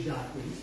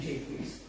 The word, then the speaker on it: Jaques: If you want to sound fancy, you can say Jaques, but they pronounce the name Jaques.